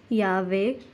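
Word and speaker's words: llave: First, double L is always pronounced as Y or J. For example, yave and yevar.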